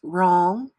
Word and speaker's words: wrong: silent for example the W and W R is silent like in the words wrong rrap and wreck since you're ghosts and pairs